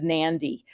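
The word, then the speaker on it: Nadi: us they made the airport code Nan so it kind of is a trigger to remember to put that n in there but when you're talking to your client sound smart they're going to nandy um home of the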